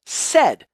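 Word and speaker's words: sed: form of a command called said which is spelled s said lets us filter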